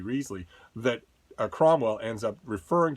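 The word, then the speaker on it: Wriothesley: southampton whose name uh is famously debated as to how you pronounce it it's uh it's henry reasley in hillary mantell's wolf hall books where he is so fond of telling people call me risley that cromwell ends up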